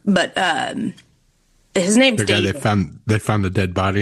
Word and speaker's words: D4vd: He's like a singer, but his name's The guy David. they found the dead body in his car. Yeah. So Okay. it's spelled D4VD. It's pronounced David.